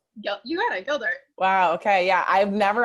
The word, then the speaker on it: Geldart: Your last name, Geldart? you got it, Geldart. Wow, okay, yeah, I've never actually pronounced it.